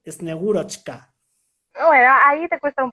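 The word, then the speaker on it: Снегурочка: no, pero porque en la transliteración creo que han metido una T de más, que por algún motivo fonético estará allí, pero que dificulta que se pronuncie. Son Yetmaros y Snigurechka.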